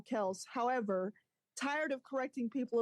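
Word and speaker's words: Kelce: like no it's pronounced Kel all right next one wait you you trying to get me to cut hold on it says according to their father Ed Kel's Kelsey it's pronounced one syllable kelse however tired of correcting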